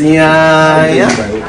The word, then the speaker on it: Iyanya: It's Iyanya.